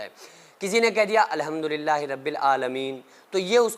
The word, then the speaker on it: الحمدللہ: کے لیے کافی ہیں۔ تو الحم میں جو ہا ہے اس کو بیچ حلق سے نکالنا ہے، الحمدللہ، کیونکہ یہ تلفظ وہ